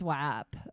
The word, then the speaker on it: WAP: yeah we're not talking about italians it's not watts yeah it's web wh it's swap but um use your letters when you sound it out i think phonetically it should be whip it is whap um and by cardi b and megan the